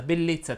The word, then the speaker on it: bellezza: le parole che terminano in essa etc etc etc vanno pronunciate con la è chiusa ed infatti si dice ribrezzo attrezzo vezzo battezzo debolezza bellezza tristezza finezza e così